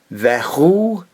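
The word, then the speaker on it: וְהוּא: U, and of course the aleph at the end is silent. Vehu.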